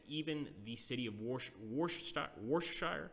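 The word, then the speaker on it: Worcestershire: the city of washed washed stock wore Shire I think that's how you pronounce it worse - Eyre not Worchester it's war Shire managed to take this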